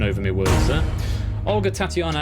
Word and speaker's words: Tatiana: I think B is pronounced Tatiana. Just to clarify. Tripping over my words there. Olga, Tatiana, Anastasia or Anastasia, Sergei or Maria.